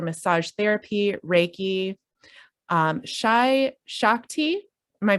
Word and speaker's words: Shakti: licensed in neuromuscular massage therapy reiki um shy shakti am i pronouncing that right shakti yep so somatic processing as well as efr